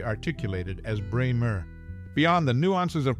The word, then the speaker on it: Bremer: of Life magazine notably her last name often mispronounced as brmr is correctly articulated as Braymer beyond the nuances of pronunciation she played a